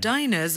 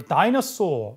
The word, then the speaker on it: diners: 일단 어디에서 오답이냐면 Diners are 자, diners 이렇게 발음합니다. 네. diners 이걸 dinosaur 이렇게 공룡 이런 건 파트원에 나오는 단어가 아니기 때문에 diner, diner. 자, dine이라는 동사가 식사를 하다.